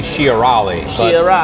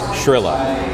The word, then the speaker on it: Shiarali: It's, my real name is supposed to be Shiarali. But it's Shrilla.